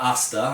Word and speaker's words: hasta: does show a guard contra hasta, or contra asta, I think, because they don't pronounce the H in Italian, and in other words,